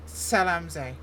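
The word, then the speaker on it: Zell am See: pronouncing it wrong, and I'm pretty positive it's Salamze.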